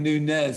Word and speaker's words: Nunez: on the phone because i was saying nunez and and my uh uh ipolit who's doing the tech for today was he was he was pronouncing it in the correct spanish way and you say well